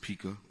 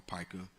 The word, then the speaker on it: pica: My child had defecated, but there's a condition called, some people pronounce it pica or pica, where disabled children, they'll take their feces and eat it.